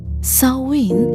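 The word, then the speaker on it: Samhain: By the way, for those who don't know, sawin is spelled as s a m h a i n, but m is silent and therefore pronounced sawin with stress on the first syllable.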